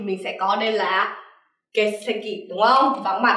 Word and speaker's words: 欠席: Còn trái nghĩa với có mặt, vắng mặt thì mình sẽ có đây là 欠席, đúng không?